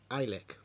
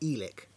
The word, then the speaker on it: Eilik: I think it's pronounced ilik because the E and the I make an I sound so I've been calling it elick but I think technically